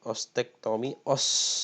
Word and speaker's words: ostektomi: Ostektomi, jadi di sini pengucapannya adalah ostektomi, ya, merupakan tindakan pembedahan dengan mengangkat tulang, ya.